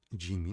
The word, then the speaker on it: Jimmy: Porque Jimmy, no caso, seria um nome estrangeiro, tá? Que não tem no espanhol. Então, é por isso que Jimmy se fala do jeito como se falaria nesse caso no inglês.